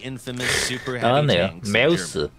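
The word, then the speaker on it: Maus: 메우스. 마우스라고 읽으면 안 됩니다. 메우스라고 읽어야 돼.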